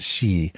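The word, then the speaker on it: 四: So the number 4 in Japanese can be pronounced shi, and shi is also the word for death.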